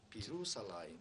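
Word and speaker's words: בירושלים: 그래서 결국 히렉과 요드를 합쳐서 B로 읽어서 비루살라임이라고 읽는 것입니다. 비루살라임.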